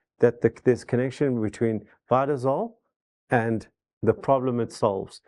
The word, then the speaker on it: Vitzol: So it and and lucky it doesn't sound like when you say it like that sounds like vitol not z vitol.